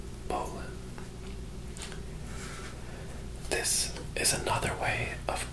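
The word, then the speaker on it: bowline: B O W L I N E. It looks like it might be pronounced bow line, but it is said Poland.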